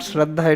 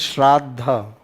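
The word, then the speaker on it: श्राद्ध: It is not Shraddha, it is Shraddha.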